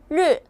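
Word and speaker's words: 日: 자, 이 아이는 뭘까요? 르. 얘도 일이라는 발음인데 하오는 발음하기가 쉽죠. 그래서 해야에서 굉장히 많이 쓰이고 르는 말 그대로 아나운서들이 공식적인 자리에서 공식적으로 쓸 때는 르를 사용한다.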